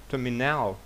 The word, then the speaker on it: terminal: А тут terminal. Ми знаємо, що terminal на першому складі наголос, тому виділяємо A.